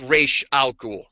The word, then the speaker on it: Ra's al Ghul: You're not gonna know from reading the comic how to pronounce it. That is true. But from the original creators, Denny O'Neil and Neil Adams, it is Ra's al Ghul.